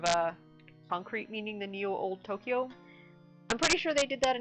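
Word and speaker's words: 東京: Tokyo both have long vowels, so it's technically 4 mora. It's 2 syllables, but 4 mora.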